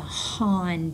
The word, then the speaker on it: Han: And uh Bong will establish what is becomes known as the Han dynasty. That's how you pronounce that.